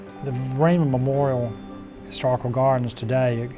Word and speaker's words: Vereen: Jacques Vereen, or Varin, it's spelled V-A-R-I-N in those early records, but it must have sounded like Vereen.